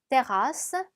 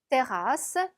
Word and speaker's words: terrasse: 자, R 두 번, S 두 번 들어갔으니까 발음을 내주셔야 되겠죠? terrasse, terrasse.